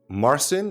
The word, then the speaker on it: Marcin: Today I am here with Marson. Is that how I pronounce it?